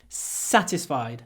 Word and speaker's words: satisfied: satisfied with my answer satisfied nice long sir satisfied are you satisfied and just